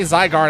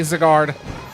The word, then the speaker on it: Zygarde: I don't say Zygarde. I say Zigard bites me. Okay. I asked for it. Yeah. Zygarde. Ziggard. I either way as someone where Y is pronounced that way. It's where it's not uh you know Y as in I it's always the other way. Like that's just the way my the way it's always been for me.